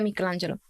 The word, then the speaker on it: Michelangelo: Se dice Michelangelo, con la CH, pero se pronuncia Michelangelo. Junto.